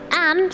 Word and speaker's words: Anne: And he started keeping, see, many people call it Annie, but the pronunciation is Anne. Anne started keeping a diary when she was just 13.